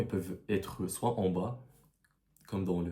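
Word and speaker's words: ب: C'est l'équivalent du B en français mais ça se prononce ba parce que faut savoir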